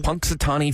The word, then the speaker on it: Punxsutawney: Punxsutawney Phil.